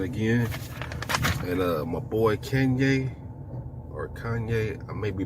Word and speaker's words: Kanye: i believe king well he doesn't pronounce it like kane kanye yeah that's all right